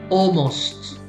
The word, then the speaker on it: almost: like horrible very bad almost almost so not the l is silent okay almost always always